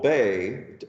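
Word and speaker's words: Bey: after the name and it probably was in medieval times begged to robert but it's now pronounced bay anyway togaro was one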